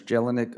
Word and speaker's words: Jelinek: lindsey mr chairman um how do you say your last name sir jelinek that's jellynick uh one i want